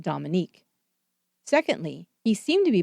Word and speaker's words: Dominique: beginning for one thing Dominick Dunne would say that the judge continually mispronounced his daughter's name calling her Dominic instead of Dominique secondly he seemed to